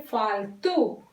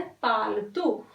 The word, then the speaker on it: पालतू: देखिए ये फॉरेस्ट में से, फॉरेस्ट में नहीं रहते, पालतू पशु भी, नहीं फालतू, यफ नहीं प्रोनाउंसिएशन करना है, पालतू।